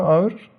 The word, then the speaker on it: ağır: 1 kilo demir mi ağır? Or ağır. So this ağır has two different pronunciations. Ağır and ağır.